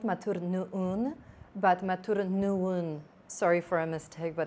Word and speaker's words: Matur nuwun: How do you say thank you in East Java? Matur nuwun. Nun. Nuwun. Nuwun. Matur nuwun.